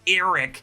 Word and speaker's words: Arryk: Now I know Arryk and Erryk are really just meant to be homophones. They're both pronounced Erryk, but I just pronounce them differently just so you guys are clear.